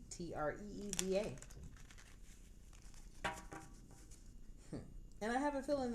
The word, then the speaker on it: Treva: My name is Treva, and it is pronounced Tree, Treeva.